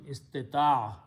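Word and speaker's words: استطاع: In the pronunciation, this waw carries in fatah, so we change this to an alif. Waw with alif. So it becomes istita'.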